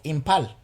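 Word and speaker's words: Imphal: northeast india with the city of impal you see that i think the age is silent in india i don't know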